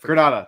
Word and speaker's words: Granada: And I've Granada. Thank you. Sorry, not Grenade. Granada. Yeah. So, Granada. Sorry.